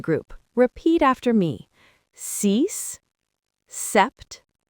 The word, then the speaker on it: sept: sept The P is silent. Listen again. sept Avery?